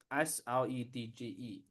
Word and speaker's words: Sledge: S L E D G E. That word is pronounced sledge.